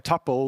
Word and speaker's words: tuple: looks very much like a tupple or Tuple depending on how you like to pronounce that there's ways to match